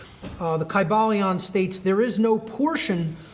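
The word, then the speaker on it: Kybalion: y sounds you know it would have been a long i sound chi ba leon and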